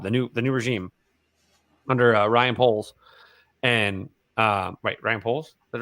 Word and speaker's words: Poles: Now, I think the Bears front office has now done a great job, the new regime under Ryan Poles.